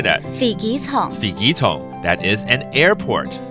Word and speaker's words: 飛機場: 飛機場。